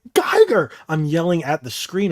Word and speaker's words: Giger: but he called it Giger I'm like I'm like Geiger I'm yelling at the